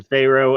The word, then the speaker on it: Pharo: greek but it's uh it's pronounced like you would you know egypt pharaoh right very good very good well joining me today is farrow um uh pharaoh